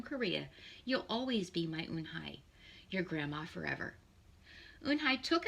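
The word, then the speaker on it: Unhei: Yes, some people say Eunhee, some people say Eunhai. It's pronounced Eunhai.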